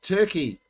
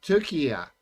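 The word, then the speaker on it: Türkiye: then we look at turkey or sorry Tura as it's now pronounced uh they got over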